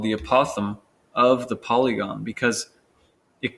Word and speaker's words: apothem: It's pronounced apothem.